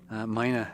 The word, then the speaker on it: Mina: So thank you very much, Jenny, and let's get moving with this video for Mina or Mina. Mina is I guess the pronunciation you're supposed to be using. What the locals use, and I totally botched that up in this video.